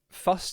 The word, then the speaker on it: Fust: Oh, Fust is pronounced like dust, by the way.